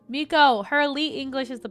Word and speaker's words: Miko: Why do I always say Miku when I say... It's because it's Sakura. And for some reason, when I say her name all together, I say Sakura Miku instead of Miko.